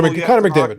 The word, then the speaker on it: McDavid: These kids are walking around with PSA, like Justin Herbert, PSA 10s, and McDavid, right? Am I saying it right? Connor McDavid.